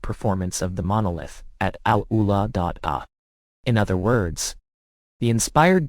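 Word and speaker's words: AlUla: Al Ula, pronounced correctly, is in Saudi Arabia.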